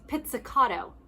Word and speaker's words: pizzicato: pluck or from uh the proper way to say that is pizzicato you try and say that pizzicato is to pluck when